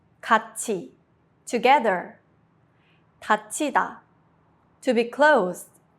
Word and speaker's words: 같이: This is called 구개음화, palatalization, and it makes the sound smoother. Examples: 같이, together.